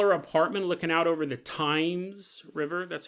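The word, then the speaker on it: Thames: a million dooll apartment looking out over the times River that's how you pronounce that right the times I don't think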